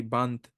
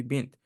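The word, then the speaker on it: بنت: Bint will not be bant, bunt. It will never change. It will always be bint.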